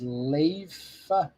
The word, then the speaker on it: Leif: Leaf is pronounced Leif.